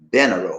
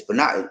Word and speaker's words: Bernardo: We would say Benaro or something like that. It's Bernardo.